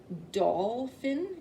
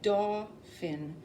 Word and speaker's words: Dauphin: It's not Dolphin, it's Dauphin.